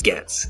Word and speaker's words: Gets: They'll get like G-E-T, like people have to spell it. I was like, yes, Gets, Gets.